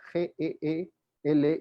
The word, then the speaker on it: Geely: las flores dueño de geely porque así se pronuncia g/l y tuvo que conocer